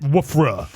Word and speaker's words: WRFA: Bart, how do you say it? Woofra.